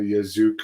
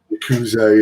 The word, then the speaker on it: Yakuza: Now, we've heard all the stories of the Yazuka, or I don't know how you pronounce it. Yakuza, yeah, taking the male wrestlers out for fancy dinners and to massage parlors and stuff.